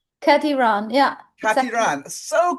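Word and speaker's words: Kati Rán: I actually corrected my friend the other day because he said Katie Ran, and I'm like, Yeah, oh no, it's Kati Ran, that's and he was like, oh well, has look a at you.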